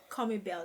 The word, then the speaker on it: Commybelle: Commybelle, yes. Why is it Commy? Why is that just pronunciation of the word?